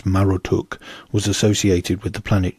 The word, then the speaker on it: Marduk: Continuing the theme of serpentine conquest, Marduk's symbolic animal and servant whom he once vanquished is the dragon Mushusu. And Marduk, whose name was likely originally pronounced as Marotuk, was associated with the